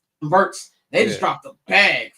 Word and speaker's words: Wirtz: Wirtz, how do you pronounce his last name? Wirtz.